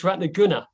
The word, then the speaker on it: Ratnaguna: So it's Ratnaguna, short U.